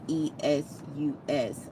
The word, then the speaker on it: Esu: So it says, I would respectfully disagree with knowledge seed regarding there being many Esus, or the way that it's spelled, Esus, like Jesus, but Esus without the J.